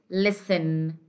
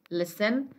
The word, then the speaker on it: listen: The ta here is silent. We say castle, listen. Okay, castle, listen.